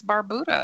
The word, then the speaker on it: Barbuda: Are they saying it wrong? But it's Barbuda. It's not Bermuda, right.